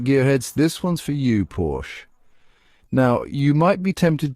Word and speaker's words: Porsche: So next time you see one of those sleek German sports cars, remember, it's Porsche.